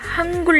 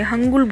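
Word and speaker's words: Hangul: लेकिन आप यहाँ पे देख रहे होंगे कि ये हंगुल लिखा है। बहुत सारे लोग इसे हंगुल बोलते हैं, बट ये प्रोनाउंसिएशन बहुत ही ज़्यादा गलत है।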